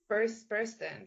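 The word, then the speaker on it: Burstyn: Burston.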